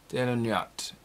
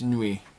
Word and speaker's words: Nuit: it says the taro nyat um i always i'm mispronouncing that uh it's nui uh like on we so it's because uh you don't pronounce the don't pronounce the t at the end silent like the tarot